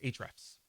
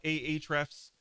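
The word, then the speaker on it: Ahrefs: tools is a is a traps some people call it a eight refs but it's just called a traps okay even though it has an A in it a is silent this is the king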